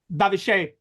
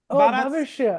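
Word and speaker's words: भविष्य: Hey, is that how you say it? Bharat Sabhyataka Bhavishe. India is the future of... Bhavishya. Bharat Sabhyataka Bhavishe. Okay. Yeah. Yes. Bharat You have to know that. Bharat Sabhyataka Bhavishya. Okay, got it.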